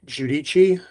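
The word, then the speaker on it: Giudici: Uh, my name is Judichi.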